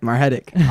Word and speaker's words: Margetic: I got Margetic, right? I pronounced it right? That's right, Margetic, Argentine.